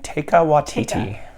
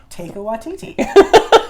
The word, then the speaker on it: Taika Waititi: Taika Waititi. It's like an invitation. Taika Waititi. I mean, that's how I'm going to have to remember how to say it. Take your Waititi.